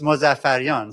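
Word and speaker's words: Mozaffarian: a big supporter and he he actually came pretty close to pronouncing my name in the original Persian which I was impressed with. So uh if you're curious it's Mosaf Fion so that he he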